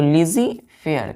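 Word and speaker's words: laissez-faire: LEISEI, इसको हम पढ़ते हैं लिजी, हाइफन इसको हम पढ़ते हैं FAIR, फेयर। तो लिजी फेयर क्या पढ़ेंगे बच्चों? लिजी फेयर। लिखते क्या है? LAISSEZ, लेसेज, FAIRE, लेकिन यहाँ क्या लिखे हैं? यहाँ क्या पढ़ेंगे हम? इसका प्रोनाउंसिएशन करेंगे लिजी फेयर।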